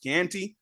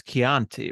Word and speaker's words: Chianti: so go ahead go grab your bottle of Canty rub some lotion on your skin and let's begin tonight sorry that's better well apparently there was a whole controversy over him him mispronouncing it's Chianti right it's the correct pronunciation so so that